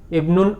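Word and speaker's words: ابن: It won't be vomited while pronunciation. In the previous sentence, it was vomited while reading the sentence because Ibnun occurred in the middle of the sentence, not at the beginning.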